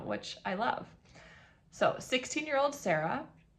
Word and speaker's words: Sarah: So, 16-year-old Sarah, it's pronounced Sara.